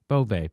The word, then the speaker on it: Boeve: It looks like Boeve, right? Or Bove? Yeah. Bove. Bove, yeah.